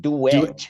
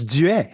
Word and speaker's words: Duet: And the last name, because everyone pronounces it Duet. Duet. Yeah, but it's Duet.